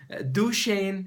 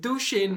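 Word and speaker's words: Duchenne: first idea which is duain is smile I pronounce it duain because it's similar to my name d hin smile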